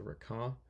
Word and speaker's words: Requin: And now I'm working on a ship called it's hard to pronounce because it's French, but the word means shark. It's called the Requin.